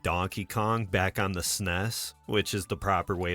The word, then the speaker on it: SNES: If you love the classics like Donkey Kong, Back on the SNES, which is the proper way to pronounce it.